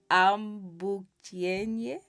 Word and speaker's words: Ambukiyenyi: I have to really see if I can pronounce her name right. Ambukiyenyi Yes, yes, it is that.